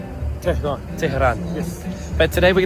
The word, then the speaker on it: Tehran: How do I pronounce it? Tehran. Tehran.